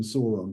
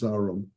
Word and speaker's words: Sauron: Sauron, who you never saw, I always call him Sauron, but apparently he's Sauron, according to the pronunciation guide.